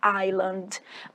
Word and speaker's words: island: A palavra ilha escreve island, fala island.